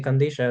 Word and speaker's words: Qadisha: here to say, hey, we could say Kandisha and we don't have to feel like we're pronouncing it wrong or we're kind of misinformed about how Syriac is said.